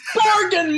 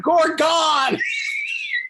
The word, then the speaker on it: Gorgon: It's Gorgon, Mark. He's from the country. There is an accent on the first syllable. It is not Gorgon.